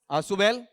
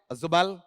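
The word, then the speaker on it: Ausubel: sense में according to आसुबेल वैसे शुद्ध उच्चारण है अजुबेल शुद्ध उच्चारण क्या है अजुबेल हिंदी में आते-आते अपन क्या कर देंगे आसुबेल तुम आसुबेल से ज्यादा समझोगे द नॉलेज नॉलेज या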